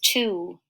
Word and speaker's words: two: The next word is two. This is kind of a tricky word. The T says T, the W is silent, and the O says ooh.